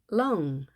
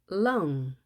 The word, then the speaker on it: lung: 거기에 혀를 완전히 대고 lung 하셔야 됩니다. L은 한글의 리을과는 발음이 다릅니다.